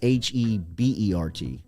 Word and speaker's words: Hebert: mean because herbert is h-e-b-e-r-t yeah he's not like i mean justin herbert is h-e-r b-e-r-t so i mean really from a pronunciation standpoint it should be a bear i mean you look